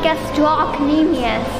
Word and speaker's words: gastrocnemius: She's right, it's pronounced gastrocnemius.